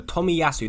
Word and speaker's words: Tomiyasu: yeah there we go tommy yasu that's how you say it so yeah tomiyasu